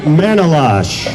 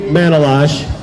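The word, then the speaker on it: Manolache: daughter laura dressed as rosie the riveter gabby manolash is how you say her name gabby manola i had to ask her gabby manolash running for congress in district three and she's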